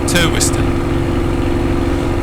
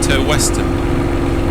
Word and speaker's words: Turweston: a huge amount cuz my first stab at in my head at pronouncing it would have been toston and then I heard someone saying to Weston so I'm kind of hitting it somewhere in the middle to wst to wst yeah gorgeous scenery let's